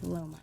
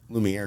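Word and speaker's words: Laumeier: mispronounce that park name that you just said. Lohmeyer. Lohmeyer. Yeah, sometimes I say Lumiere because of the casino.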